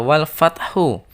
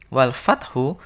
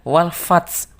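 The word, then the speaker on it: والفتح: terakhir ini ada walfathu ketika diwaqofkan walfathu maka cara membacanya adalah walfat jadi ada huruf H yang tersimpan yang harus harus keluar bunyinya meskipun hanya kecil bunyinya walfat Oh begitu ya anak-anak tidak boleh membaca wafat ketika Nano membaca wolfhard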